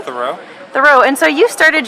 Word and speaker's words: Thurau: Theoro.